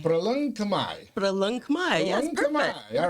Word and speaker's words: Proleung Khmer: It's pronounced Proleung Khmer. Proleung Khmer.